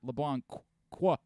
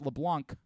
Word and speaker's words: LeBlanc: It's not LeBlanc qua. It's LeBlanc. That's what he was trying to say, LeBlanc. Right?